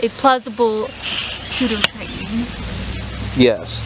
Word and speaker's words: Pseudotriton: It's a plausible pseudotriton. Yes, it's a plausible pseudotriton. That doesn't work. But the silent P doesn't really make that work.